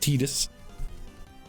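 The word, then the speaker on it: Tidus: It's pronounced Titus.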